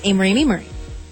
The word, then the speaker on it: Amerie: My MySpace is Amerie.